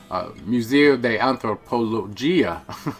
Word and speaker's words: Museo de Antropología: We're going to take you over to the Museo de Antropología, is how it's pronounced in Spanish.